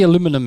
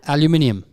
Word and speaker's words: aluminium: i have no idea it's only aluminum here that's crazy how is it spelled can you say it one more time aluminium aluminium how do you say